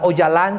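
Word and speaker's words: Öcalan: gran líder es abdullah ojalá se escribe ocalan pero se pronuncia Ojalá y su gran líder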